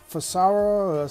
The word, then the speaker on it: Frsara: All right, this one is the Farsara, spelled F-R-S-A-R-A, it's spelled F-R-Sara, you know, well, it's like Sarah or whatever it is.